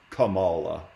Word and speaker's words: Kamala: so but it it's pronounced lately it is pronounced Kamala Cala harrisa okay right Camila would be more